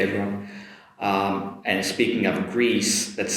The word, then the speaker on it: Greece: Okay everyone, um and speaking of Greece, let's say Greece Greece. Notice the “sss” sound at the end, not the “sh” sound.